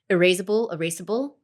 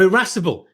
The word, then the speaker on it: irascible: Erasable. Oh, irascible. Irascible. Oh, no, I thought erasable, like you could rub him out.